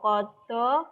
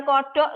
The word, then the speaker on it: qadha: Qada, qadar, takdir. Bacanya bukan kodok loh ya ini, tapi qada. Mentang-mentang tulisannya QADHA jadi kodok gitu. Tapi qada cara bacanya.